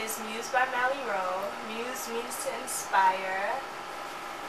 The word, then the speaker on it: Mus: Muse by mie ro Muse means to inspire it's pronounced Muse not like must or anything like M and Mali R is